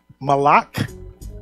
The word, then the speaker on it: Malak: Malak, that means king. It's literally spelled exactly how it sounds.